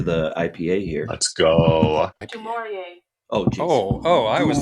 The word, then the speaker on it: Du Maurier: Du Maurier.